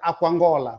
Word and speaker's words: Aquangola: Quer dizer, você está encontrando aqui duas palavras, mas na sua pronúncia rápida há aqui uma absorção. Quer dizer, algumas vogais aqui desaparecem. Então, logo você vai pronunciar Aquangola, rápido.